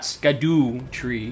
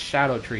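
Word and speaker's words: Scadutree: lot of words like it's not scadoo tree blessing it's shadow tree blessing that's how it actually is pronounced they're like old school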